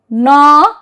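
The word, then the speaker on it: gnaw: So, the rule 1 says G is silent if the word begins with GN. So, there are only a few words, gna, G-N-A-W, gna, and gnome, gnome, na and gnome.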